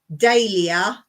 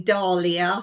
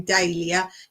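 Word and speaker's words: dahlia: buy oh vegetables uh daia a lot of people say Dalia so apologize if you think I'm saying it wrong but we say daia daia bulbs and you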